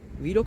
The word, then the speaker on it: vlog: montajlama hiç bilmiyorum ya bu blokta galiba vlog diye okunuyor ben biraz daha telaffuzlara